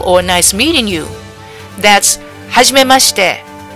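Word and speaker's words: はじめまして: That's hajimemashite. So it's like saying, Huzz, you made mustard.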